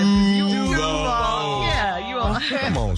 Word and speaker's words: Duval: Steve, this one is from Miracle in Duval County. You don't say it like that, Shirley. Come on. I know. I was waiting for you guys. Duval. Yeah, you all. Come on, sir. 3, 2, 1. Duval.